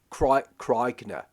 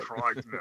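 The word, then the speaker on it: Krykna: they use that idea and the Kroikna. You got to say it like an Australian. Krogna. Krogna.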